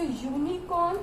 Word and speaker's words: unicorn: Okay, so unicorn is giving a this consonant sound, that is why we use a, article a, okay, or A.